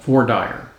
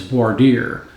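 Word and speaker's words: voir dire: a process in trial called for dyer for dire means in french to speak the truth you may hear it mispronounced as border what that essentially means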